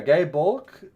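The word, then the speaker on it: Gáe Bulg: guy B bulk yeah gay bulk uh the G the gay bulk old Irish pronunciation I can't read phonetics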